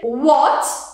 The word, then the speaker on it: what: H is not pronounced when it comes after W. So whenever you have an H, after W, it's not pronounced. You say what or what.